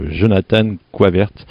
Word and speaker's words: Jonathan Goyvaertz: Là on est à Lillebonne, parc des Aulnes, et j'ai la chance d'avoir à côté de moi le 3e finaliste, Jonathan Coivert. Voilà, j'ai bien prononcé?